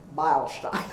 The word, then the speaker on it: Beilstein: And then fast forward to me, Joan Elizabeth Beilstein is the way it's pronounced.